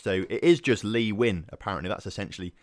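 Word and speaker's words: Nguyen: that is just wrong it's Vietnamese and apparently it's a very weird pronunciation for Vietnamese to English so it is just leeuwin apparently that's essentially how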